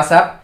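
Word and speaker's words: ASAP: এ এস এ পি উচ্চারণটি হয় আসাপ, কিন্তু এর পূর্ণরূপটি হল অ্যাজ সুন অ্যাজ পসিবল।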